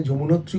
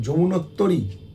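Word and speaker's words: যমুনোত্রী: যমুনাত্রী হতে গঙ্গোত্তরী অর্থাৎ আমরা যাকে যমুনাত্রী বলি উচ্চারণটা আমরা ভুল করি এখানে কি সুন্দর উচ্চারণ করেছে দেখুন যমুনাত্তরী হতে গঙ্গোত্তরী ও গোমুখ যমুনত্তরী গঙ্গোত্তরী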